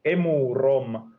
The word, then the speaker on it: Emurom: It's quite simplistic engine that I'm using, and yeah, it's called Emurom. That's how you're supposed to pronounce it, because it's a Finnish word that I made up.